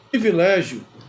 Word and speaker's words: privilégio: que causa Muita confusão privilégio é escrito com i pri p r i e não é escrito com e privilégio privilégio não existe o que existe é privilégio por qu porque essa é a forma correta ou seja neste caso o som é de i e a escrita também é